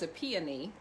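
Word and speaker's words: Epione: at some of these um her mother was a peony e-p-i-o-n-e who was the goddess of the soothing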